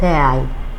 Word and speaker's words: تاعي: اصل كلمه بتاع بقى الكلمه من الاصل الابطي القديم وكان نطقها ا تاعي ده حتى الاطفال يا راجل بيقولوا تاعي انت مش واخد لي